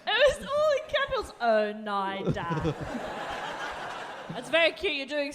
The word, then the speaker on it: Oneida: I did write it phonetically at the top, 1 second. Oneida.